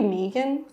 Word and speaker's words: Meghan: I think it's Meghan, but in Australia it would be Megan.